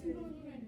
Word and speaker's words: pseudonym: Say pseudonym. But it starts with a P. That P is silent.